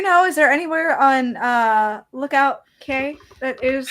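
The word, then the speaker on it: Lookout Cay: Pam, do you know, is there anywhere on Lookout K that is like a... it is people. It's Lookout Key.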